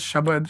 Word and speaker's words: शब्द: सो या it's pronounce S शब्द।